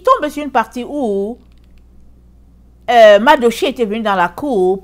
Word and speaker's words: Mardochée: Il raconte à sa femme que Mordekai, alors, il va pendre Mordekai. Mardochée, excusez-moi, je l'ai prononcé en anglais.